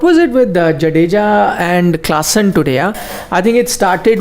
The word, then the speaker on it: Klaassen: Klaassen. Yeah, I said Klaassen. No, You said Carlson.